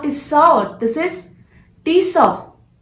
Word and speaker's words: Tissot: Tissot. No, that's a wrong pronunciation. This is not tissot. This is Tisaw. Tisaw. T has to be silent.